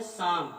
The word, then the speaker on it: psalm: जैसे आपका है PSALM, शाम मीन्स होता है भजन। पढ़ते क्या इसको है, शाम। क्या पढ़ते हैं, शाम। पी साइलेंट हो गया।